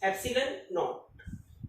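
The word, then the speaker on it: epsilon naught: सो यहाँ पे ये जो एप्सिलॉन नोट है, इसको हमने कैसे प्रोनाउंस किया? Absolute electrical permittivity of free space, एप्सिलॉन नोट।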